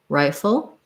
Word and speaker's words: rifle: the word rifle so rifle has first syllable stress it sounds like the i diphthong so like the word i or this word i both the same and then the full is a syllabic l so there's a little short schwa before the l so building from